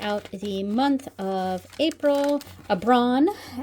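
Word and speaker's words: Aibreán: Abbron, that's how you say it in Irish.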